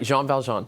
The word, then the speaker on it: Jean Valjean: You know, everyone has different pronunciations for. But that's right, Jean Valjean.